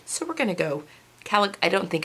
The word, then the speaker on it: Calicot: I'm going to say Calico. It is C-A-L-I-C-O-T. It's a Canadian company, and typically when you have a T at the end of a word, especially with French, it is not pronounced.